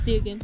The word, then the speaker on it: Dugan: here with Dugan is it Dugan or Duggan it's Dugan Dugan okay I'm glad I